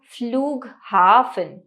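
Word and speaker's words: Flughafen: hotel ताज hotel इसके बाद आता है देया फ्लूग हाफ देया फ्लू हा फन यानी कि एयरपोर्ट अथवा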